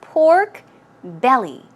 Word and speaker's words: pork belly: the tummy part right so it's pork belly stress goes right here on the belly pork belly pork belly